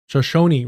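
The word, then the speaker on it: Shoshone: You all know that I butcher uh Roi. Shosonyi, right? Yes.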